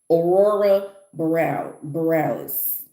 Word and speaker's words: Aurora Borealis: Uh, yes, this is how you say it. It's Aurora Borealis, I believe it's Borealis. Aurora Borealis.